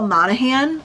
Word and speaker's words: Monaghan: I also grabbed Same Time Next Summer by Annabelle Monaghan. I've heard that you don't pronounce the G.